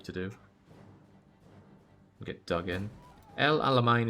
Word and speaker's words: El Alamein: El Alamein is pronounced like main for the last syllable. Then why is there an E there?